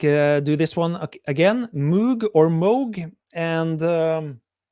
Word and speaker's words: Moog: interview uh it's pronounced Moog while I know a lot of you UK based guys say Moog but I think and I'm pretty sure the correct pronunciation is moog like in Rogue so that's that um